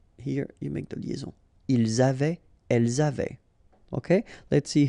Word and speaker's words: avaient: Ils avaient, so look here, E-N-T, you write them, you don't pronounce them. So you get phonetically avait, exactly the same thing that we had here, here, and here.